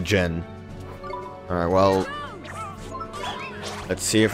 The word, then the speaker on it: Djinn: She forgot to pronounce the D in Djinn. It's pronounced the Djinn.